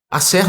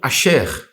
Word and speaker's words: Aser: Asser, nossa pronúncia, ou Asher, que é uma...